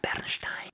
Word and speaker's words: Bernstein: Se pronuncia Bernstein.